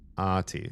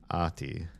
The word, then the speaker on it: Ahti: The IPA on this, the International Phonetic Alphabet, not IPA like beer, says Ahti. Ati. So the H is just like there to tell you hold the A a little bit longer. There are no silent letters. You say that, but the H is not pronounced. And each syllable receives equal stress.